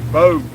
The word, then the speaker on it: Bogue: Bogey is pronounced like road. Bogue. Okay, thank you, buddy. See, John, appreciate that. So Bogue is like road.